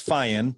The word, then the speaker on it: Feyen: Yeah, anyway, its last name is Feyen, but you were doggone close. So I've been called much worse, so I'll take Feyen all day long.